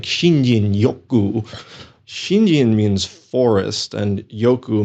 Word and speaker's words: Shinrin-yoku: Or, and am I pronouncing this correctly, Shinrin-yoku? I mean, that's probably how most Americans pronounce it. My Japanese friends have tried to teach me how to say this, and it sounds something like Shinjin Yoku.